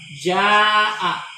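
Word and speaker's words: جاء: Ja'a satu kata. Jadi ja'a itu pasti dibacanya panjang kayak gini.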